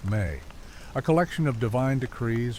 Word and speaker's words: me: Sumerian texts mention the abstract concept of the mi pronounced may a collection of divine decrees or sacred powers that the gods possessed.